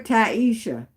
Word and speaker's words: Tisha: And Tisha, my daughter's best friend name is kind of spelled like yours, but they call her Taisha.